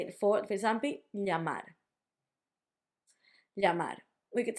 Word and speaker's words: llamar: We would say it for example, llamar. Llamar. We could say llamar, we can say llamar, like a y. Or some people in some countries would say llamar, like a j.